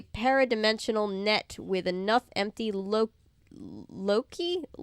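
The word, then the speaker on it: Loci: net with enough empty Loki it's spelled like Loki the God but with a c instead of a k uh to get me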